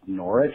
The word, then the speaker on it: Norwich: wark, or something similar, usually the final W is silent. For example, a couple cities with famous castles that look like they should be pronounced Norwich and Warwick are actually pronounced Norwich and Warwick.